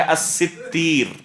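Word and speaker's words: الستير: مشہور جو نطق ہے، علماء اس لفظ کو جو پڑھتے ہیں وہ ہے الستیر، الستیر، یہ ہے صحیح نطق۔ یا بعض علماء نے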